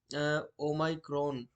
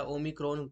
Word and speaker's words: Omicron: ओमाइक्रॉन या ओमिक्रॉन, कई तरह से इसको प्रोनाउंस किया जा रहा है।